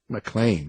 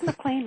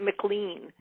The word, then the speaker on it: McLean: you notice you see I called you m mlan right I didn't want to say McAn but you did it right you did mlan right although I'm sure there are some people that pronounce it McLean it's the McLean there was a time when